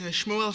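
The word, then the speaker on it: Shmuel: sorry sure sorry I forgot my name is Shmo can you spell that please s hm u e l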